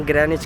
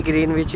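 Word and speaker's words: Greenwich: ग्रह नीच क्यों बोला तो यहां पर इसको गिरा नीची बोलते हैं बट जब मैं शुरू आया था तो मैं भी ग्रीनविच बोलता था लेकिन इसका जो प्रोनाउंसिएशन है वह यह ग्रह नीच है है तो लेकिन अभी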